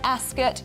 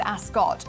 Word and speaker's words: Ascot: yeah yesterday I see I've always said Ascot and then yesterday they were all going to ask us and you have to say it with you that's good so I've been saying it wrong my whole life oh we're off to